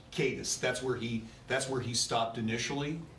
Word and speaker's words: Cadiz: Sheriff, the home where I'm going to mispronounce, is it Cadiz? Is that the community? Cadiz. Cadiz.